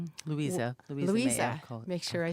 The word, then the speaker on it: Louisa: So Louise May Alcott Louisa Louisa make sure I say it correctly.